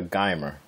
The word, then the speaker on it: Geimer: Her name, pronounce that for me, please. It's Samantha Geimer.